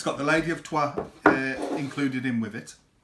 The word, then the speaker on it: Troyes: So my number 4th game is one that could have been number 1 in a different year, and that is Troyes, but it's pronounced Troyes.